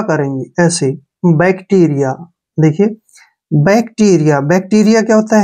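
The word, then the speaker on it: bacteria: के रूप में लिखेंगे और यहां ए का उच्चारण या करेंगे ऐसे बैक्टीरिया देखिए बैक्टीरिया बैक्टीरिया क्या होता है छोटे जीवाणु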